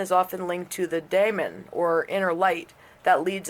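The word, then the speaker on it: daimon: In mythology, the diamond is often linked to the daemon, or inner light, that leads us to our true self, or purpose, or destiny. And that's spelled D-A-I-M-O-N, by the way, probably closest to demon.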